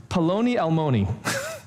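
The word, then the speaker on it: פלוני אלמוני: there is, in Hebrew, it's paloni almoni. And it rhymes for a reason, because it's like the Hebrew equivalent of Mr.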